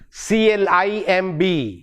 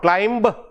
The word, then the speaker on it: climb: in the same way c l i m b it is not climbed but climb mer sound last one and then